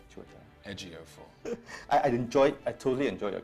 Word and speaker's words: Chiwetel Ejiofor: My name is pronounced Chiwetel. Chiwetel.